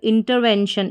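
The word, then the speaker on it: intervention: और टी आई एन शन होता है। तो इंटरवेंशन इंटरवेंशन का मतलब होता है हस्तक्षेप और दूसरी स्पेलिंग में आई एन टी ई R inter है।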